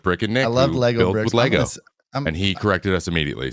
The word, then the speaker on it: Lego: i build next like growing up i loved legos loved legos and did we correct him should